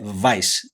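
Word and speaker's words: Weisz: Então, ã, se você pesquisar a raiz, a raiz germânica, tanto germânica, austríaca, húngara, a pronúncia é vais.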